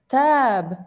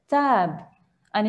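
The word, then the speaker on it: تاب: Tab. Perfect. Tab. Tab. Jayid. Tab. Just like the English word tab in the computer, tab, tabs. Okay. Perfect. Tab. And it is a verb, and we can also pronounce it taba.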